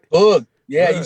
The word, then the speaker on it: Bug: Bug. Yeah, Bug. You said it right. It's Bug.